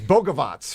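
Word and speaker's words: Bogavac: And it's Bogovac for people who know how to pronounce the last name.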